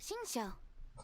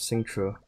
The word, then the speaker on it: Xingqiu: You must be talking about Xingqiu. Paimon didn't know they had a warehouse here. Oh, is that how you say his name? I thought it was Singtru.